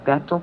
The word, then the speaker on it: Bechtel: Bechtel, pronounced Bechtel, in a supersecret international corporate octopus, founded in 1898.